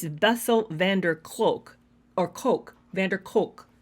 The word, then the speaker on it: Kolk: Van Der cloak or Coke Vander Coke I've always been saying a clock it's not clock it's k-o-l-k Coke that's vessel Van Der